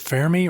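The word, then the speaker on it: Fermi: Is it fairmy or fermy paradox? Yeah. Yeah. Fairmy paradox.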